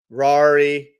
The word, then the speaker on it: Rari: Rari rhymes with Ferrari, right? This is possible bullish flag, right?